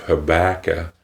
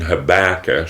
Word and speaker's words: Habakkuk: the 2nd chapter, and I do know that it can be pronounced Habakkuk. You pronounce it whichever way you want. I was raised with it being Habakkuk, so I'm going to call it Habakkuk.